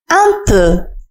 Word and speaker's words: un peu: ردد معي un peu. حاول أن تنطق جيدا صوت E في آخر كلمة un peu. Un peu. ليس un peu وإنما un peu.